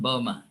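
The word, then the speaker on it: Böhme: You're referring to Jacob Boehmer? I don't know who wrote that book. Jacob Boehmer is a German mystic. Yeah, by the way, Jacob Boehmer, Boehme, pronounced Boehmer.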